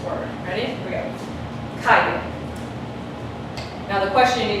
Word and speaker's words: calle: Which part of this word got emphasized? The CA, right?